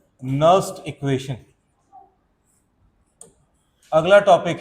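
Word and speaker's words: Nernst: चलो, अगला टॉपिक है नर्स्ट इक्वेशन। अगला टॉपिक है नर्स्ट इक्वेशन, है ना, इसको कोई नर्नस्ट नहीं पढ़ेगा, ठीक है, नर्स्ट इक्वेशन है, ओके, एन साइलेंट रहता, नर्स्ट इक्वेशन।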